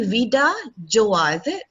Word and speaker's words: VidaJoie: i just realized that i've been pronouncing the company's name all this time wrongly it is actually veda joey yep so thank you